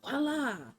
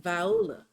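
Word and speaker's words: voilà: I used to say, okay, you would say, voila, but it's spelled like Viola.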